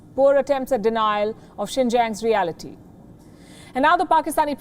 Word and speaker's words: Xinjiang: so we accept it did you notice the pronunciation he says sing kyang that's what the uyghurs called the region before the communist party took control and gave it a chinese name xinjiang before the uyghurs were